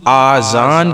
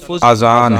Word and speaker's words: اذان: بعض لوگ آذان کہتے ہیں، یہ غلط تلفظ ہیں. آذان جمع ہے اذون کی، اور اذون معنی ہے کان. درست تلفظ اذان ہے.